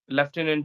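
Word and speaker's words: lieutenant: spelling is entirely opposite and left inant yes leftenant is there and I have memorized various words like monk we mispronounce we say that Monk and yes that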